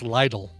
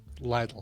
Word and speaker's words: Lidl: have a lizard oh bobby frank says it's pronounced lytle lytle well it looks like flicker or some bullcrap